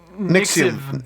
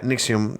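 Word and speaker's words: NXIVM: Nixium. It is a U. Nixium. Oh, it is a U? Yeah, Nixium.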